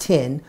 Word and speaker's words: Thien: That's Thien. It's pronounced Tin. Win with Tin.